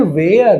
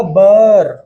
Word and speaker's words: were: ज्यादातर लोग पढ़ते हैं वेयर। ना मुन्ना ना, गलत हो जाएगा। अगर आप इसे वेयर पढ़ेंगे तो गलत हो जाएगा। इसका जो सही उच्चारण होगा वो होगा बर।